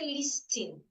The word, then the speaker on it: listen: So, I should not say listen. Listen. Some people they change the s here to a zed. You hear them say listen. No, it's listen. Listen. Listen. The t should not be said.